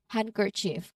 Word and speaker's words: handkerchief: Even though we see the D, it is often silent, which means that we can still say it as handkerchief, but it's often pronounced as with a silent letter D, handkerchief.